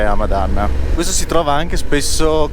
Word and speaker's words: Hamadan: Hamadan o Hamadan? Allora, dipende da come si fa la traslitterazione. Io gli ho sempre sentito dire Hamadan.